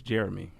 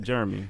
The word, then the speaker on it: Jeremy: uh my name is Jeremy you should know that sir it's not Jeremy it's Jeremy yeah three syllables yeah rummy brother I've